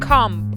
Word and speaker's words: comb: I think comb. Ah, yeah, comp. It's something without the B. Like something. It's not comp. It's more like combing. Comb.